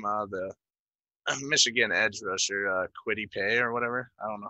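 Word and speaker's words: Kwity Paye: Mitch, did I pronounce that Michigan guy's name right? Yeah. Quiddy Pay?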